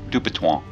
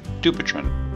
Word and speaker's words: Dupuytren: lipid profile dupiton disease is named after the world famous 1800's French surgeon whose name is pronounced something like dupan but if you don't speak French just say dupiton dupiton disease changes over